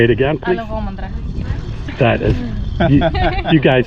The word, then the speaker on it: Alogomandra: And again, I'm going to let the young Greeks pronounce the name of the beach. Alogomandra. Say it again, please. Alogomandra.